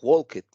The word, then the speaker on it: walked: Tenemos la terminación ed, que ya lo comentamos, en la regla es ed, pero en pronunciación suena como si fuera una T. Entonces diría worked o walked, o también puede ser talked.